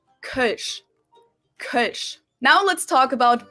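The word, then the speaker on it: Kölsch: and that is called not super easy to pronounce with the omloud but it's Kush Kush now let's talk about beer brands this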